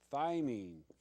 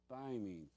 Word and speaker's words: thymine: we're going to do thymine thymine t h y mine you can call it mine if you want to